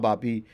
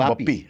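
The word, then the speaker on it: Bappi: Pronounce बापी नॉट बप्पी. नहीं, नॉट. We are saying it wrong for 25 years. We are saying बप्पी everywhere you go and he never corrected us also. बापी. So Bengali में बापी है.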